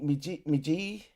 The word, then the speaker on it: Meiji: Meiji Restoration may have ended the reign of the samurai. I'm pronouncing it wrong.